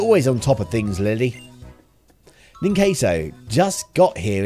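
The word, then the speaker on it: Lillie: too far in queso now that it's l-i-l-l-i-e i'm pronouncing it lily how olly city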